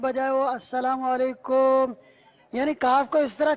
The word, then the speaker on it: السلام علیکم: کا جواب واجب ہوگا۔ السلام علیکم یعنی میم کو ساکن پڑھا، پیش نہیں پڑھا، تب بھی جواب واجب نہیں ہوگا، تو صحیح تلفظ ہے السلام علیکم، میم پر پیش ہے۔ یہ دیکھو اس میں